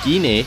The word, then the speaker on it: Gine: And you also get to see Gine, that's how you say her name. I thought it was Jean, I guess I was wrong. It's Gine, right?